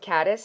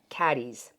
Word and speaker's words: Caddies: And a lot of these celebs this is called, I thought it was called Caddis. It's not, it's called Caddies.